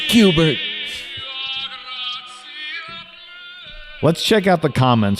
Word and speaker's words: Schubert: It's pronounced Cubert.